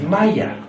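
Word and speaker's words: مية: In Egypt, one of the key words for water is Maya. It is not pronounced the same way in any other Arabic country.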